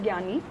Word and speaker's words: Gnani: is very confusing because it is pronounced as gani but it is spelled as g n a n i so we are uh